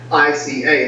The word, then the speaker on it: Ica: can perk you know mispronounced Inca which is I in CA but it's not that it's Iike ICA it's like the state capital where it's an hour